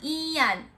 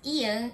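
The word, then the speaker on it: 이응: And what you have to know in Korean, when we look at this ian, it doesn't have sound when this comes to the first.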